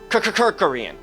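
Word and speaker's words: Kerkorian: kirkorian okay say his name really fast it sounds like a stutter Korean anyway billionaire yeah yeah bought it in 1967.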